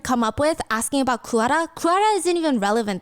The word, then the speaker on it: Goo Hara: So that's how you say it. Not Goo, it's Goo Hara.